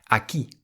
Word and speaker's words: aquí: Aki aki it means here aki and you'll see that there is an accent on top of the i. So you emphasize that part of the word more aki.